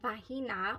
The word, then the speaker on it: Vahina: next we have uh vahina or V sorry v a h i n a i don't believe you pronounced the h uh then we have